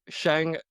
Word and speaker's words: Shang: My name is Shan. Thank you for having me. Very excited to be here. All right, so there you go. For everyone out there who asked me how to pronounce Shan's name, it's Shan.